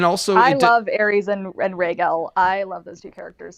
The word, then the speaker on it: Rhaegal: And it's Right, just, and then yeah, Rhaegal's just yeah, Rhaegal's in the halls of the Red Keep, naked, going, "Look what I can do!" yeah. My name's Rhaegal. It rhymes with bagel, and he's just running